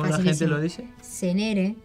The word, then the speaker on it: Zenere: Déjenme decirles que mi apellido no se dice de esa manera. Se dice Senere. Es Senere. muy fácil. ¿Y Como cómo si lo tuviese un dice? acento en la primera E.